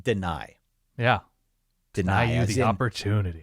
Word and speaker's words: Dani: It is not Danny Dennis Sutton. It is spelled D-A-N-I. He says it deny.